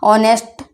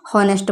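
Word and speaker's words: honest: लिखा आता है ना, ऑनेस्ट गर्ल, ऑनेस्ट बॉय, इस टाइप का लिखा आता है यह, तो बच्चा क्या करता है, इसका प्रोनाउंसिएशन ऑनेस्ट को हॉनेस्ट पढ़ता है और लगा के आ जाता है यहाँ पे ए, ठीक है।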